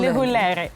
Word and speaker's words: Lehulere: I'm still Lehulere.